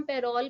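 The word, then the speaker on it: parol: Give the oral evidence, इसको हम पेरोल भी बोलते हैं, यू कैन not give the पेरोल evidence, पैरल भी बोलते हैं, सो व्हाटएवर प्रोनाउंसिएशन जो भी आपको ठीक लगे.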